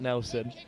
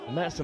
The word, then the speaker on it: Metzen: Thankfully, just had a Blundell's player come over and correct my pronunciation of Medson's name, not Nelson. And thank the handwriting of the Blundell's coaching staff for that. Metzen at number 5 has